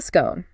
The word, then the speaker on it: scone: And if you are living in Manchester and you want to adopt the local dialect, then you commit to the scone rhyming with gun.